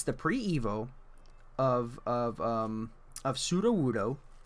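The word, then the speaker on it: Sudowoodo: It's the pre-Evo of Pseudo-Wudo. Pseudo as in false. Wudo as in wood.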